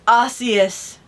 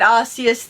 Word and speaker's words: Arceus: the logo Pokemon Legends Arceus, or I pronounce it Arceus, the guy on here pronounces it Arceus, releasing worldwide in early 2022.